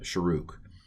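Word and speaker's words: shuruk: is a long uh you pronounced the the uh sharok okay and i realize that looks like it's shrek but um some of these some of these uh vowels are pronounced different differently by different people i'm going to pronounce this as uh sharook uh okay this has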